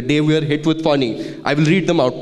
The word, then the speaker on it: Fani: So I remember in 2019 we were hit with a little cyclone called Fani, right? Okay. And I didn't pronounce it right. Yeah, so some people call it Fani, some people call it Fani.